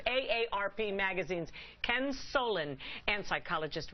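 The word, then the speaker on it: AARP: bottom of that is a ARP don't say it wrongly all right it's a ARP magazines Ken Solen and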